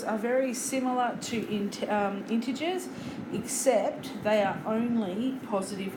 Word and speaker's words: integers: we have what's called integers I know it doesn't really sound like that when you spell it out but that's nonetheless